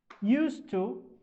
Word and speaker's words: used to: Okay, so in these expressions we don't pronounce the D or D sound like this one.